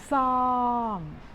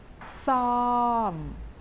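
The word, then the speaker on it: ส้อม: is this this word we pronounce with the S sound as you have in English but make it a little bit longer and it is a falling tone try this together song do it again some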